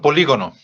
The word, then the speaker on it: polígono: ¿Qué es un polígono? Ustedes lo vieron en este. Una figura de muchos lados. Así es, muchos lados, ¿no? Aquí tenemos la palabra, lleva acento en la I. Polígono.